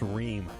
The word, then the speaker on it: Ream: It's pronounced Ream.